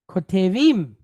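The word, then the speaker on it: כותבים: Kotevim. Kotevim. All right? Kotevim. So the word ketuv means to write or to inscribe. So what is kotevim?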